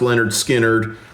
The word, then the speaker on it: Lynyrd Skynyrd: Led Zeppelin four with six points and Leonard Skinnard pronounced Leonard Skinnard with four points.